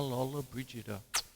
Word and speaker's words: Lollobrigida: know confusion uh so say her name Gina Lola Brigida there you go what a beautiful woman and